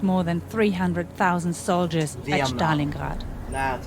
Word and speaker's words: Stalingrad: In the winter of 1942, the Wehrmacht lost more than 300,000 soldiers at Stalingrad. That's how it's pronounced.